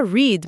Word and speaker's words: read: Write e wrote, read que continua read, mas muda a pronúncia. Sim, igual a cor vermelha.